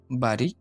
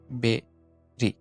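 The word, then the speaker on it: berry: ৬ নম্বরটা এটার উচ্চারণ আমরা করি বাড়ি। এটার সঠিক উচ্চারণ হবে বেরি, বেরি, বেরি, বেরি।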